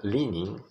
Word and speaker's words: leaning: A palavra leaning, a letra A não se pronuncia, tá? Leaning.